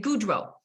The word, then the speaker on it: Gaudreault: be a fun conversation so my name is a French one it's a little bit tricky a little bit tricky so it's you pronounce it Goodwill and um it's wonderful